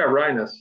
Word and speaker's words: Rienas: did I see your last name okay yeah rhinos that's perfect Brian is okay okay good we'll